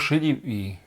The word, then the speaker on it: Šedivý: Hi everyone, my name is Miroslav Šedivý. Do we have a problem with the encoding? No, that's still wrong. Maybe if you try just to plug the cable the other way. No, still wrong. Šedivý.